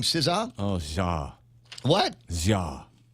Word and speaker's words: SZA: So, we pronounce her name SZA. Oh, Ja. What? Ja.